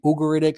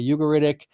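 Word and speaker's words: Ugaritic: And uh you it's pronounced in different ways in different universities. Some say Ugoritic, some say Ugoritic.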